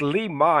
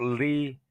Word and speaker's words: Li Ma: not interested oh there's lie ma it's Li ma it's not Lee yeah Li ma that's her name and